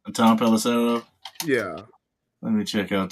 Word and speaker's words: Tom Pelissero: Tom Pelissero.